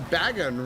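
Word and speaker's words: Bagon: Uh, I have a Baggon rhymes with dragon.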